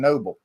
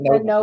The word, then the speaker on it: Nobel: Why do you call Nobel Prize? Everybody knows what's a Nobel Prize. Just pronounce it right.